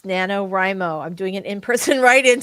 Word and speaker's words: NaNoWriMo: So Short this for National Novel Writing, writing and I've heard month, people pronounce it NaNoWriMo, right? but we don't read, we write.